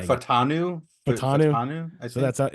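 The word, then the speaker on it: Fautanu: degree, but Troy, I think how you say his name is Faltanu. Is how you say his name. Yeah. Yeah. You can correct me if I didn't say that correctly, because on draft night I didn't hear a single person like say the first syllable of his name correctly.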